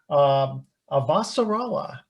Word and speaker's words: Avasarala: And I'm going to pronounce this correctly here. Avasarala.